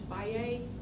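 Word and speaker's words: Fage: most like Greek yogurt is Phi a that's spelled FA GE and they have the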